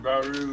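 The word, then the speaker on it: Barrieu: That's pronounced Baru.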